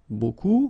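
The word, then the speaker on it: beaucoup: strange B like that remember you don't pronounce the final P okay and then you've get this combination of vowels and you get the sound o so technically it's okay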